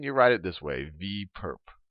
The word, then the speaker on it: V perp: So we write this little orthogonal notation as a superscript on V, and you can pronounce this as V perp, not for perpetrator, but for perpendicular.